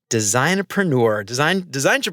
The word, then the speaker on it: designpreneur: And we're going to talk a lot today about what Chris calls designpreneur. How do you pronounce that, by the way?